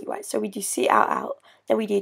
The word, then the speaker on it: cout: going to use, is called cout, and it's pronounced cout, and it spells count, effectively.